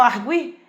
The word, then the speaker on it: arguir: Quando eu falo arguir, esse U tem som, então não pode ser dígrafo jamais, né?